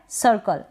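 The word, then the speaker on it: circle: यहाँ पर ये जो ई है, अब यहाँ पर ये जो लास्ट में ई है इसको हम प्रोनाउंस नहीं करते हैं, ठीक है, प्रोनाउंस नहीं करते हैं, तो सर्कल।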